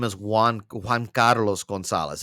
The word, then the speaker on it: Juan: so much is that my name Juan also sounds like check one two one I used to get